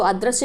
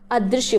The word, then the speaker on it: अदृश्य: सही उच्चारण करिए, आप सही टिक कर पाएंगे, ठीक है। उच्चारण बेहद महत्वपूर्ण है हिंदी में, तो उच्चारण को आप इम्प्रूव करिए। इसको आज से अगर आप अदृश्य पढ़ते हो तो अदृश्य नहीं पढ़ेंगे, अदृश्य पढ़ेंगे। क्या पढ़ेंगे? अदृश्य।